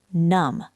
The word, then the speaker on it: numb: Number 24, numb. Numb. The B is silent.